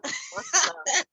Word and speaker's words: Mustah: Yeah, just pronounce it with the Jamaican twang. Dutty Mustah, you know? Mustah.